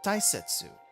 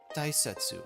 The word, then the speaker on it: 大切: You use it in big, and it's pronounced as o. Sometimes it's also pronounced as dai, as in important, or I guess in this case tai.